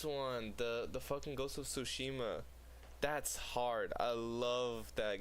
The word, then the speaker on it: Tsushima: The fucking Ghost of Tsushima. That's hard. I love that game. Ghost of how do you say that? Tsukishima? I think it's Tsushima.